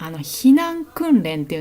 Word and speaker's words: 訓練: るっていうのがこれれで訓練これ訓練と読みます訓練はトレーニングの